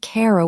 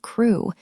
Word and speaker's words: Crewe: Madame Pascal pronounced it as if it were Carol instead of crew.